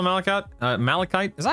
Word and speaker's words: malachite: Is that is that is that how you spell malikite? Uh malachite. Is that how you pronounce that word?